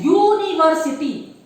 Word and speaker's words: university: It is pronounced with the letter Y. Y. Okay. That is university.